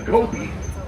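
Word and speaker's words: kopje: Now, on the right hand side, that's the Kobe. That J is silent. The Kobe is a Dutch word.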